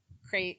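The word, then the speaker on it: Krait: Crate is C-R-E-I-T? It's with a K. K-R-A-I-T. And K-R. it means something in her native language. It's just not like CRATE.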